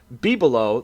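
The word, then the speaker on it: bibelot: okay i like it uh anyways be below b below the actual definition is a small household ornament or decorative object and it is spelled l o b-i-b-e-l-o-t b below or just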